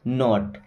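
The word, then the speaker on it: knot: आता है तो यहां पे के साइलेंट हो जाता है है ना जैसे पहला वर्ड हो गया नो एक और वर्ड देख लीजिए के एन ओ टी नॉट इसे क्या पढ़ते हैं नॉट नॉट का मतलब होता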